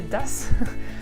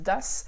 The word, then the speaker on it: das: das avec deux S, vous avez remarqué à l'oral, il n'y a pas de différence, que je dise das ou das, ça se prononce de la même manière, d'accord? Il n'y en a pas un où le A est long ou court, c'est das, d'accord?